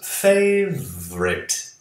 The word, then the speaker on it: favorite: Seu hobby favorito, his favorite hobby is cooking. O americano não usa aqui o U, né? Duas sílabas. Favorite. Vrit. Você não fala O, U. Vá direto do V para o R.